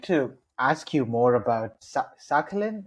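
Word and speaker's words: Sakhalin: I wanted to ask you more about Sakalin. Am I saying that right AJ? You'll have to help me out here. That's right.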